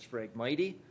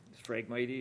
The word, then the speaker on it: Phragmites: we have our frank i refer to them as Phragmites the reed growing and that's the incorrect pronunciation of sprague mighty and corrected by allen and and then talking with the DNR afterwards Frank my tea is definitely what it's called non-nato Frank